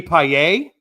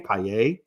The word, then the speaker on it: Paillet: And I met Pags, Jamie Paillet. I learned that's how you actually say his name, Paillet.